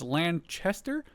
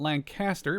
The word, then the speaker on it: Lanchester: This is Lanchester I believe and not Lancaster.